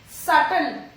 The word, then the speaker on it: subtle: Subtle. It is subtle. Letter B is silent here.